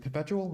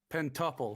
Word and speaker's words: Pentuple: Is it Perpetual? How do you pronounce it? Pentuple. Pentuple. Sorry, Pentuple. I thought it was Perpetual.